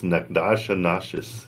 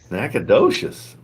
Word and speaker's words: Nacogdoches: Nobody ever knows how to say it when they see the name. Oh yeah, because it's Nacogdoches. Yeah, Nacogdoches. Holy crap!